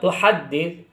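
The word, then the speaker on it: تُحَدِّثُ: Nah setelah itu lafaz tuhaddits itu ingat ada tasydid pada huruf dal. Jadi ditekan. Jangan sampai ada yang terlewati tasydidnya. Nanti keliru bacanya.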